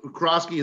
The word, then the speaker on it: Krosky: sir there uh and can you uh krosky that is the correct pronunciation crazy crossing okay is